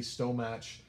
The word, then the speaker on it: stomach: So stummick. Stomach. It phonetically it's right, but it's so wrong.